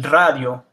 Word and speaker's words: radio: And you'll notice I have another one there, el radio. So when you have a double R, or the R is in front of the word, it's pronounced with the R that most people associate with Spanish, the R.